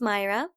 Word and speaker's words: Mayra: but that's only because I'm Hispanic my name is pronounced Myra and it's spelled ma